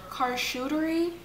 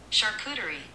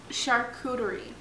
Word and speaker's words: charcuterie: actually though we also got a cartoon car car shootery i don't know if that's how you say it i'm really bad at this let's ask google charcuterie charcuterie not charcuterie so we got a charcuterie board